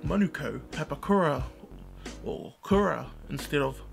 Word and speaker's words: Manukau: I see white society I've burned up saying Manukau instead of Monaco pepakura or Kura instead